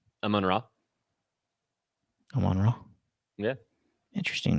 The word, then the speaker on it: Amon-Ra: Amon-Ra St.